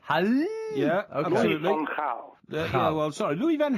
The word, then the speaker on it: Louis van Gaal: And this is the message from Michiel Jongsma about how he believes the manager's name should be pronounced. This is a message for Mike Parry. Louis van Gaal.